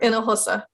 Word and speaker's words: Hinojosa: If you want me to make it easy, it's like 3 syllables. It's 4. Hinojosa.